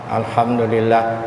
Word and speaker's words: Alhamdulillah: Ain kannya di sini nah alham Alhamdulillah kalau kadang-kadang yang salah tuh ada juga bacanya takah hidung takah hidung kayak sengau orang Jadi alhamdulillahnya ainnya itu dibaca Taka hidung Taka hidung n baca Taka hidung itu kadang-kadang allahuam bawab